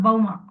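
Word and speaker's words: Bhauma: He's a son of Bhuma Devi, so he's called Bauma. Like we say, Pritha's son is Partha. Dhritarashtra's sons or Dardharashtra. So the Sanskrit has that the son is noted by extending the first syllable.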